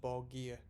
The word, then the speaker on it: Borgir: how it's pronounced but someone a fortunate commenter said it's pronounced ball gear so if i'm wrong